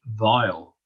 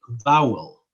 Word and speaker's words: vowel: differently so for example the word vowel v-o-w-l and with the north and irish accent people would say vile and then an english person would say vowel vowel we'd say voil so